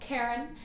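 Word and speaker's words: Cairen: the ship we call Karen, because she takes care of us when we are in her, the Karen. And then it's spelled C-A-I-R-E-N. Also like the car in the air, the air.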